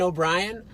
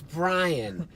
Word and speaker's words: Brien: So people are like, yeah, I know Captain O'Brien. I'm like, well, O'Brien. The only time you see that spelled like that is O'Brien. They are right. Or they'll be like, Brien. It's Brien.